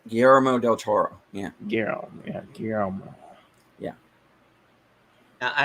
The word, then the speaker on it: Guillermo del Toro: I always pronounce him Gilroy del Toro. Guillermo del Toro.